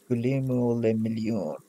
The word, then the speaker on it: Guillaume Le Million: And Guillaume Le Million. For the people, Guillaume something? For the masses? If it doesn't rhyme, you're not pronouncing it right.